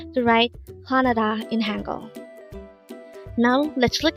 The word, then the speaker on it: 화나다: This pronounces a three-syllable word. The first syllable is hwa, second syllable is na, and third syllable is da. Pronounce it with me. HWANADA. HWANADA. The word HWANADA means to be angry or furious.